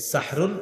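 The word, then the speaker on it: سَحْرٌ: সাহরি কি খাওয়া এই সাহরুন এটা সুন্দরভাবে উচ্চারণ সাহরুন সিন হা জবর সাহ র দুই পেশ রুন সাহরুন এটা হলো আমরা যেটা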